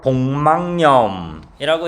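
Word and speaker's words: 복막염: 왜냐면 이게 우리 뇌에서 한꺼번에 이제 처리가 되기 때문에 자 표준 발음의 이제 규칙대로 하면은 니은 점가 현상과 비음마가 일어나서 복망념이라고 이제 발음을 해야 되는데요.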